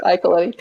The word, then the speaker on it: Iacoletti: And just on a programming note, we were hoping to have, and I'm almost certainly going to mispronounce the surname, Iacoletti. Close. It's Iacoletti, yeah.